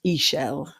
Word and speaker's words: Ixchel: Her name is actually pronounced Ixchel.